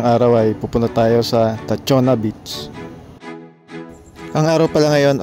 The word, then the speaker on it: Tachogna: Itong beach na pupuntahan natin ay Tachona Beach. Hindi pala siya Tachogna, katulad nung una kong naibalag dito. Silent G pala siya.